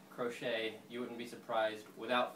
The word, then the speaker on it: Crochet: And it is pronounced like the knitting crochet.